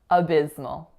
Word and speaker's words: abysmal: That third syllable is mul, mul. So it's M, schwa, dark L. The schwa and dark L really combined to almost make one sound, ol, ol. Abysmal.